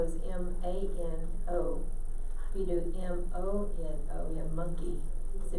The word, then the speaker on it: mono: If you do M-O-N-O, you have monkey. So if you don't pronounce it right, you're telling somebody to get your monkey off of me instead of get your hands off of me.